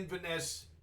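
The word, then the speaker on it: Inverness: end up landing in Inesse again. Iness? Yes. It's three syllables and we'll land in Invenesse that day.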